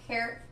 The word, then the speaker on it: hair: de esta forma ears luego hair que es pelo de nuevo la H como una J hair Face que es rostro